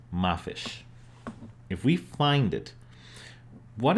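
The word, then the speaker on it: ما فيش: example if we find this series of glyphs which is pronounced ma fish if we find it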